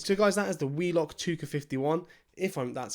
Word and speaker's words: WELOCK ToucA51: So guys, that is the WELOCK ToucA51. That's how it's meant to be pronounced.